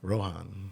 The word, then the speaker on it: Rohan: Rohan.